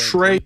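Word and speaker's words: Trae: young look at you t-r-a-e you got the pronunciation right I'm proud of you big guy yeah so Trey young I'm a buy-on Trey young stuff had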